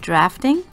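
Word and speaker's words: Draughting: I said earlier it was a General's drawing pencil because that's what it says on it, but it's actually pronounced drafting, which is weird.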